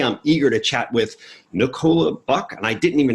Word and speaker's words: Nicola: tell I'm British so we're with a different different kind of stress on the vowel but yeah Nicola or Nicola is fine Nicola okay